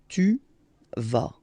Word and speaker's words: tu vas: Okay, tu vas. Same thing here, final S not pronounced.